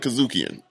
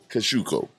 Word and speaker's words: Kosciuszko: I'm sorry for calling it Kazukian. Did someone correct you? No. I looked it up. Oh, you looked up the phonetics. Yeah, No, there's no N.